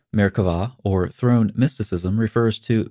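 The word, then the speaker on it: Merkavah: mysticism called merkava mysticism frequently spelled with a b but pronounced with a v merkvah or throne mysticism refers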